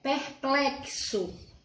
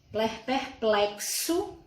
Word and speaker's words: perplexo: Perplexo. Perplexo é com X, mas tem som de CS.